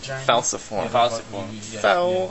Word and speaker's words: falciform: Structure A is that falciform. Sounds like Falcor. Exactly how I remember it, like Falcor. It's spelled the same way, F-A-L-C. That much is the same. F-A-L-C-iform.